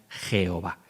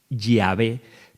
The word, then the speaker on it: Yahvé: que significa Señor, e intercalaron las vocales de Edonai a las consonantes de Yahvé, de tal forma que quedaría Jehová. Pero no es así como se pronunciaba. Muy probablemente la forma correcta de nombrar a Dios es Yahvé, tal y como hacemos en la Iglesia Católica.